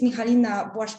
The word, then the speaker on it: Michalina: will be nice that you will hear polish pronunciation my name is mihalina I am an